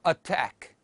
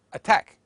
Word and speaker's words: attack: allow attack and connect notice that the doubled letters in the writing are not germinated or doubled in pronunciation they are produced as one sound Arabic learners of English tend to wrongly lengthen some English consonants for example they wrongly say allow instead of allow or attack instead of attack and connect instead of connect morphological